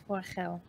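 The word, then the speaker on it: Forochel: It's Forachel. It's basically. It sounds a bit Forachel? Yiddish. Yeah, it's basically Finnish. So it's Forachel.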